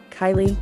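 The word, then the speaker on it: Kaili: and her half-sister kylie 29 kylie's name is pronounced kylie a fact that's led some to conclude that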